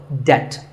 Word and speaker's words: debt: The B is silent in this word, so debt.